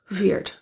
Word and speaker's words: weird: pulling your tongue back the final D in weird is released since it occurs as the last sound of the phrase the D is also voiced in American English so interior voice is